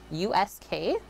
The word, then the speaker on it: Usk: in a place called i believe it's pronounced us usk the black bear inn